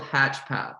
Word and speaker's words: HatchPath: Sure, it's called HatchPath. So you can think of it like hatching an egg and then the path that you're on. So the purpose of the name was it's birthing your new journey.